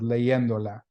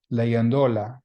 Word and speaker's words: leyéndola: Notice that we had to put an accent mark on the E, because if we don't, it would be pronounced leyéndola, because that word ends in an A, ends in a vowel, so it should have the stress on the second to the last syllable.